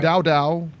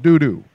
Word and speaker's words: Doudou: They didn't say Dow. They said Doudou.